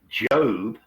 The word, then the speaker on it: Job: the Bible the um the the Book of Job is spelled j o but it it's pronounced job